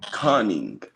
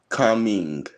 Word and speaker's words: Kunming: Conning. Wait. Kunming. Say it one more time. Kun with a K and Ming with an M. Kunming.